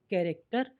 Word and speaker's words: character: CHARACTER कैरेक्टर यानी कि चरित्र या कोई प्ले का पात्र, उसको भी कैरेक्टर ही कहते हैं।